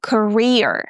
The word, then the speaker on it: career: In the word career, we have a shwa sound in the beginning, ca ca, and we stress the second syllable, career.